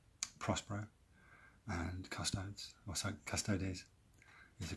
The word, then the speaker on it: Custodes: is a long-awaited Prospero and Custodes, or so Custodes is the correct way to say it.